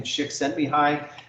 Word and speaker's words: Csikszentmihalyi: And then if you can pronounce, I understand you pronounce Mahali's last name Csikszentmihalyi, who identified this concept of flow in there.